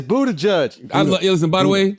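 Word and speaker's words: Buttigieg: you know it's Buddha it's butt judge right no it's Buddha judge it's spelled but judge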